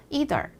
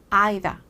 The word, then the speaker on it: either: 사람은 어떻게 발음하나 들어볼까요 2라고 발음하는 사람도 있지만 i라고 발음하는 사람도 있어요 그래서 이더 이덜 이덜 이런 미국 발음 혹은 아이다 아이다 아이다 이런 영국 발음 또 중간이 섞여서 아이돌 아이돌 아이돌 이렇게 얘기하는 사람들도 있거든요 그러니까 아이들 아이다까지 맞는